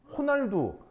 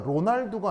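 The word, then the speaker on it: Ronaldo: 리우 아니고 포르투갈어에서 R은 H 발음이 돼요. 아시겠어요? H 알겠죠? 그래서 축구 선수 로날도가 아니고요. 호날도죠. 로날도 아니고 호날도요. 호날도 둘 같은 거라고. 예. 호날두. 호날두가 로날두가 아니고 호날두야.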